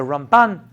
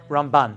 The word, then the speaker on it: Ramban: think it comes from ramban yeah ramban the way it's rambam and ramban way you pronounce it's different I learn you Shiva